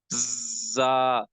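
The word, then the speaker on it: ظ: Moving towards the next word, which is za, right? So za has to pronounce from this part.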